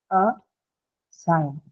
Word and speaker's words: assign: And then you're only left with the second syllable, right? Sign. Hence the uh, stress is going to be marked on the second one. So a sign.